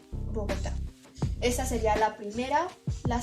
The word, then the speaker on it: Bogotá: una palabra trisílaba y debemos recordar que agudas es que tienen su última acentuación en la última sílaba de la palabra por ejemplo Bogotá esa sería la primera